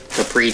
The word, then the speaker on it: Capri: to pronounce it if you listen to capri tools with voicemail when you call them it they pronounce it capri but um so 6